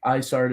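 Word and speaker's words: Isard: time yeah I think isart is correct since her nickname is ice heart ice heart yeah good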